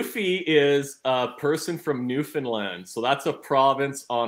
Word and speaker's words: Newfoundland: but I was the I was even saying it wrong I'm like yeah we're going to Newfoundland and they're like no it's Newfoundland I'm like oh I'm